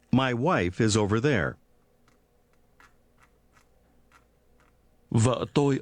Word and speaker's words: vợ: Vợ tôi, Vợ tôi, vợ, vợ, vợ, vợ, vợ tôi. vợ tôi. In Vietnamese, the word for wife is pronounced with a low, falling, broken tone.